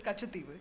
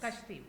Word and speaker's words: Katchatheevu: relevant political issue of the day, which is Katchatheevu. Am I pronouncing it correctly, Vasudha? Yeah, it is Katchatheevu, yes. Katchatheevu.